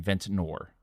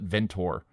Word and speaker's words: Ventnor: how you pronounce it I always just called it ventor and I clearly missed that second n in there all of these years playing Monopoly so I apologize to